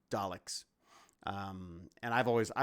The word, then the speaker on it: Daleks: who created the the darlix i say darlix i say it wrong but daleks um and i've always